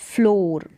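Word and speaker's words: floor: मत, तो इसको पढ़ेंगे फ्लोर। क्या पढ़ेंगे, फ्लोर। तो इसको फ्लूर करके नहीं पढ़ेंगे, जैसे बुक में डबल ओ पढ़ते हैं वैसे नहीं, फ्लोर इसका उच्चारण है।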